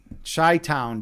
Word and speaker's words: Chi-Town: Man of Fire, you say Agni gotta represent Chi-Town. Yeah, but you're not saying it right, man. It's CHI, dude. CHI, dude. This is how we do it. Chi-Town, dude. We're not shy here.